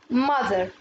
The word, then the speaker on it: mother: Mother. Mother. برضو الـTH هنا بننطقها ذ.